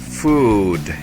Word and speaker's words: food: Como ejemplo de esta letra tenemos la palabra food. Food. Food. Como vemos en esta palabra, hay dos O's juntas. Cuando vemos dos O's juntas, se pronuncian como U, como en esta palabra food, que significa comida.